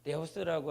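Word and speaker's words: Θεός: 근데 그 뜻이 무엇이냐면 데오라고 하는 말이 어디서 유래가 됐냐면 데오스라고 하는 말에서 유래가 됩니다. 우리가 칠판에 보면 이렇게 번데기처럼 이렇게 하지 않습니까? 번데기처럼 이렇게 읽는데 이걸 헬라어로 말하면 디귿 발음이 납니다.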